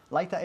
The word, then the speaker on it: lighter: Lighter es mechero. Lighter. Lichter se escribe pero la pronunciamos lighter, ¿ok?